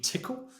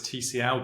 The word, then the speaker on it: Tcl: have Glenn solution in tickle um sometimes I call this TCL but it's not it's pronounced tickle uh Eric do you